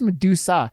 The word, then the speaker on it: Medusa: You added an L on there. It's just Medusa. That's all.